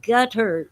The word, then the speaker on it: Qatar: they got out to qatar and i'm told that it's pronounced gutter but i don't like